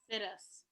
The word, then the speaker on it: situs: It's pronounced situs. I call it situs because once you find that perfect location that you want, you decide we're going to sit us right here.